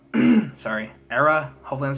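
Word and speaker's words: Erra: Number 26 is Drift by Era. Sorry, Era. Hopefully I'm saying it right. It's spelled E-R-R-A.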